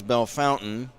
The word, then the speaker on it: Bellefontaine: Bellefontaine is Bellefountain. They use the the English pronunciation of that French word, fontaine, which is beautiful fountain.